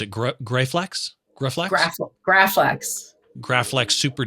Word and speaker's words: Graflex: This is how do you pronounce it? Graflex? Graflex.